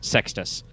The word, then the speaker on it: Sextus: yeah it's poland palominis sextus us as in boss rather than the use of sex as in you have you'd have